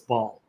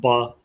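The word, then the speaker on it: בַּעַל: refers to him as Baal, as sometimes people pronounce it, but in Hebrew you'd pronounce it Baal.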